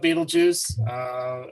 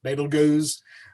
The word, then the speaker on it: Betelgeuse: Okay, Betelgeuse. Some people call it Betelgeuse. If you try to use some of the Arabic pronunciations, it's Betelgeuse. Some even spell it with a Z instead of an S.